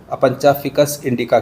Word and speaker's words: Opuntia ficus-indica: जिस तरह से ये इसकी ग्रोथ या इसका सिस्टम कॉम्प्लिकेटेड है, उसी तरह सा इसका लैटिन जो प्रोनाउंसिएशन है वो भी थोड़ा सा कॉम्प्लिकेटेड अलग है। इसको अपंचा फिकस इंडिका कहते हैं, जबकि इंग्लिश में ओपनशिया एलेटियोर कहते हैं।